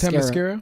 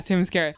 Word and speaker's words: Themyscira: I loved seeing all of the women on Ready, how do you say the name of the island? Oh, you talking about Themyscira? Yeah, Themyscira.